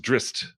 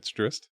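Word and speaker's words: Drizzt: Apparently, it's pronounced Drist, which I think is stupid. I still say Drizzit. It's Drist.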